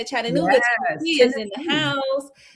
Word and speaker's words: Chattanooga: Chattanooga, Yes, Tennessee is in the Tennessee.